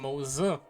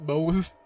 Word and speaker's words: Moza: Moza. I've been pronouncing him just Mose. You know, the Simpsons character.